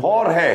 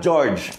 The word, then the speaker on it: Jorge: Jorge, okay? Yeah. Not George. Yeah, a lot of people call him George just because of the way his name is spelled. And I've been trying to tell Coach Jorge to tell everybody that it's Jorge.